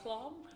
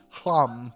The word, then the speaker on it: Hlam: Clam? Hlam, that's how you say it.